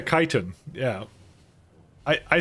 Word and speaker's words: chitin: it was uh it's it sounds like it starts with a k yeah chitin yeah yeah I I